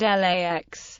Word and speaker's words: LAX: It is most often referred to by its IATA airport code LAX, with the letters pronounced individually.